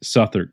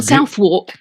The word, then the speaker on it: Southwark: very proud that someone you have taught me to say suther cathedral um i've almost got it down because in the states we look at that word and it is not the english pronunciation so no it's not south walk yeah okay guilty as